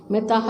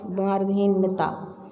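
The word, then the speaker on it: मिताः: मिताहा इसमें दिया है पर सही उच्चारण मार्धहीन मिता।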